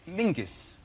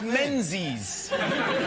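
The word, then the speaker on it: Menzies: His name is Mingus. Mingus. Yes. Goss. Yeah. Yeah. But it's pronounced it's it's spelled M E N Z I E S.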